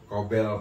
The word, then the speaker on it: Cobel: Cobel Production. Cobel Production. Production. Di YouTube. COBEL. Tuh, Cobel. Cobel Production. Cobel Production ya teman-teman. Bacanya sih Cobel Production.